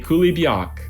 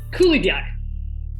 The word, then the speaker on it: coulibiac: challenge, Vladimir and Olga would very much like you to make a coulibiac.